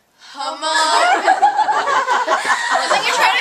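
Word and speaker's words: Hmong: So how do you spell it? Oh, H-M-O-N-G. Mong.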